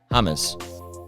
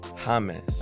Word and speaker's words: James: wait wait wait wait how did you say his name hamus hamus I think that's how you're proing it's name hus you know nobody nobody in Columbia is going Hae you know all right your